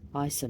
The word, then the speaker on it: Isa: herself concentrating her power Isa not only sounds like the word ice but it also means